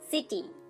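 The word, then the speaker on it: city: ডিপথঙ্গ বলা যেতে পারে, সেটা হচ্ছে আই সাউন্ড। সাইট এর অর্থ হচ্ছে উদ্ধৃত করা। নেক্সট উদাহরণ দেখুন, সিটি। সিটি দেখুন এখানেও আমরা সি এবং আই লেটারটিকে পাচ্ছি কিন্তু তার উচ্চারণ দন্ত স করছে ঠিকই, তার সাথে একটা স্বর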